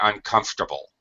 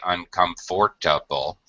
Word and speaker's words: uncomfortable: One note about this word, native speakers drop the middle syllable. We say uncomfortable. We don't say uncomfortable. We don't make a 5-syllable word. We make it a 4-syllable word.